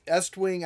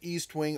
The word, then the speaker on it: Estwing: And then moving along, we got, check this out, Estwing. I know I pronounce it Eastwing. Old habits die hard. Everyone, when I was growing up, they just called it Eastwing.